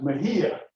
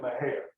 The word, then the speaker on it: Mexia: And his name was, well, it would be pronounced Mejia if it was Hispanic, but we call it Menace, Texas.